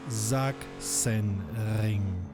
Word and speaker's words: Sachsen: your car is toast easily have you learned pronouncing it already good one last time Zach sen it took me very long to wrap my